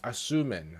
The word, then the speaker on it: Asurmen: Asurmen.